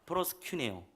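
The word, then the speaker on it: προσκυνέω: 프로스큐네오. 자, 큐에 액센트가 있어요.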